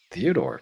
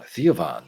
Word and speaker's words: Theovon: oh oh damn hey Theodor how you been oh no uh sorry I always pronounce it wrong theovon right yeah glad to see you can still get my name right kid you hang out